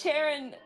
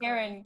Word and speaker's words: Charon: It's Sharon, or not Sharon. Sorry, it's a tendency of mine. It's Sharon! Charon. It's pronounced Charon. Karen, Sharon, I don't know.